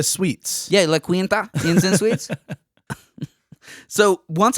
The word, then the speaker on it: La Quinta: La Quinta Suites. Yeah, La Quinta Inns and Suites.